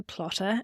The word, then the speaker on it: Plottr: the education lead for Plotter, and that's spelled Plottr, which is the #1 visual book outlining and story Bible software.